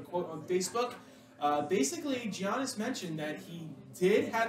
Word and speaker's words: Giannis: milwaukee bucks yeah and by the way it's pronounced giannis you're really showing you are a bad sports